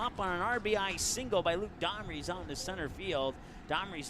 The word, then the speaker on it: Domries: That's why I said it wrong. Made the D look like an H. But anyways, it's something to do with Homries from first and second.